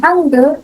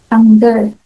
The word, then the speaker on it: Hangul: So, ano nga ba yung sinasabi kong Hangul or Hangul? So, either of the two, ano yung spellings and pronunciation is both correct naman.